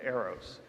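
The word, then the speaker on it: AiRXOS: In case you're wondering, and I struggled with this for a while, the X is silent in Aeros, like xylophone, right?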